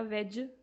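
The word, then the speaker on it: wedge: एक था तुम्हारा वेज। वेज में डी साइलेंट है।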